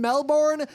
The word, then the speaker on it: Melbourne: on Friday in Melbourne. Melbourne Melbourne. Australia. Just if you want to pronounce Melbourne correctly, Melbourne. Imagine it's me LB I N. Melbourne. Melbourne. Forget that R. Forget the O.